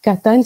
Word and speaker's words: Qahtan: On a d'un côté les Banu Qahtan, donc Qahtan, si je le prononce sans l'accent, ce sont les Arabes